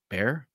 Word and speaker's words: Bexar: bear the bear bear bexar is how it's spelled but their new slip joint uh i've i've been informed that b-e-x-a-r is actually pronounced bear bear i'm not sure but